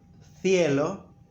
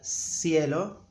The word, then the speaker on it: cielo: In Latin America, we always pronounce it like S.